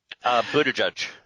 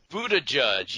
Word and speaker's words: Buttigieg: I've never actually heard it pronounced. Buttigieg. Buttigieg, yeah, he Alfred E.